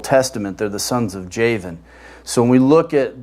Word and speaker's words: Javan: Japheth's line comes Javan, which in Hebrew it's Yawan. We get the Vav because of the present-day pronunciation of the Hebrew letter Vav, but it was actually a while back then. Ashkenazis changed the pronunciation of it, but it's Yawan, which is interesting because